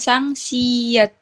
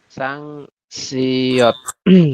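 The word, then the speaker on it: 쌍시옷: rangkap ya ini iya yang sang siet itu kan Yang dinamanya Kan dia namanya sangsat pakai EU Tapi kemarin kita belajar yang si biasa itu pakai O siot yang benar yang mana ya di sini juga harusnya siot ya siot ya Bukan ya harusnya sebentar kayak gini ya harusnya eh sang siot kayak gini ya Eh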